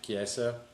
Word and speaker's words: Chiesa: Michael is it Cheze? How the hell do you Chiesa. say his name? Chiesa.